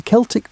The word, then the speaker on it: Celtic: The Celtic peoples, and yes, we pronounce it Celtic when talking about these historical folks, not the basketball team pronunciation, occupied a vast swathe